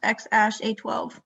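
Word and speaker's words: X Æ A-12: that in this yeah he said it was pronounced x-ash a12 would you like that name no thank you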